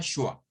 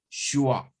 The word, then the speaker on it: schwa: Well, is not is not T, is the schwa.